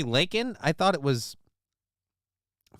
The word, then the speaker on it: Laken: sexual about my show leak Riley her name is really Laken I thought it was